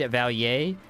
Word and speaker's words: Valier: It is indeed Valier, if it's supposed to be pronounced like French.